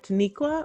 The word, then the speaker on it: Taniqua: Today we have Taniqua.